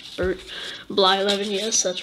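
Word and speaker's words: Blyleven: Brett Bly 11. Or Bly 11, yes, that's right.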